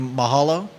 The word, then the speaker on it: Mahalo: Hawaii reference Mahala you mean Mahala M you Mahalo come again Mahal okay you said it right